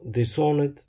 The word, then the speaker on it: Dishonored: Et pour le dernier, ça se prononce Dishonored, qui veut dire déshonoré.